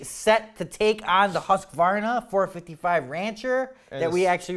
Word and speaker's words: Husqvarna: It's a hit between, you know, some people like Steel, some people like Husqvarna, you know? Husqvarna. It's not Husqvarna. It's Husqvarna. I pronounce it Husqvarna. I say Husqvarna. It's Husqvarna. Anyways, so those are the top ones.